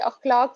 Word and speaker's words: अखलाक: जी ये अखलाक से प्रोनाउंसिएशन होती है इसकी।